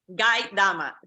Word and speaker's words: Gaidama: interrupt you it's g g dama so it's pronounced like in Spanish and a lot of